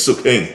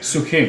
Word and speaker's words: Suk Hing: It's Suk Hing. Suk Hing.